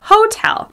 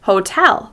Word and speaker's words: hotel: but in American English, we pronounce the word hotel with stress on the second syllable. You'll notice that tell is longer, louder, and higher in pitch. Hotel.